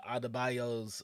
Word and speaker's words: Adebayo: Like the way they addressed the Adebayo's I just said her name wrong.